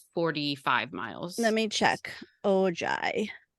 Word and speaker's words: Ojai: Ojai. Yes, it is spelled Ojai. It's like Ojai.